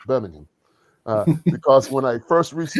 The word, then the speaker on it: Birmingham: it was in uh let me make sure I say it correctly Birmingham in the UK in Birmingham not Birmingham but Birmingham because when I first